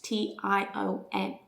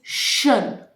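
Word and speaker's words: -tion: The sound is shun, shun, shun. It's not TION or TION, shun.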